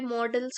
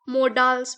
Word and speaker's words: modals: लेकिन नहीं, आज मैं आपको ग्रामर वाले मॉडल्स के टॉपिक को पढ़ाऊंगी। और एक इम्पॉर्टेंट चीज, बहुत सारे लोग इसको मोडाल्स पढ़ते हैं बट इसका एक्चुअली प्रोनाउंसिएशन है मॉडल्स।